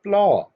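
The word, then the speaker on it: plough: इसकी इंग्लिश है प्लॉ। यहाँ पर यू जी एच साइलेंट है।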